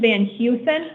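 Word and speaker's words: Van Hoesen: Your last name is pronounced Van Heusen? It's Van, it's two separate words, Van and Heusen, yes. Heusen is how it's pronounced, but is it spelled Hoesen?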